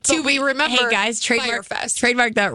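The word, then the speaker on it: Fyre Fest: Yeah, it's Fire. Fire Fest. Fire Fest. The thing is, it's spelled really weird.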